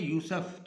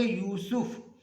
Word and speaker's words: یوسف: اگلا لفظ ہے یوسف، یوسف سین پر پیش پڑھیں گے، ہم اس کو پڑھتے ہوتے ہیں یوسف، تو تلفظ ہمارا غلط ہو جاتا ہے، تو ہم پڑھیں گے یوسف۔ اور اگلا لفظ ہے